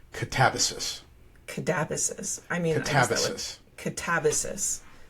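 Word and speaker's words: Katabasis: And they told me it is actually pronounced Catabasis.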